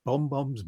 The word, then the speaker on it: bonbons: Bonbons or bonbons? Bonbons. N for nothing or M for mother? No, I'm from Hackney, love, and I'm pronouncing it with an N, not with an M.